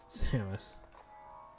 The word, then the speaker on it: Samus: Also, it kind of sounded like he didn't pronounce the second S in Samus, which is just rather odd.